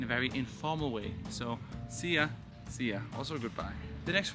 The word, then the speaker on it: szia: We have szia. It's spelled with an S and an Z, which makes the S sound. It's much different from sh, which is just a normal S.